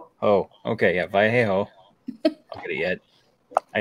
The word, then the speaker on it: Vallejo: Let's see, we have the Mad Hatter Holiday Parade and Festival in Vallejo, California on December 4th. Wait. Vallejo. Oh, okay, yeah, Vallejo.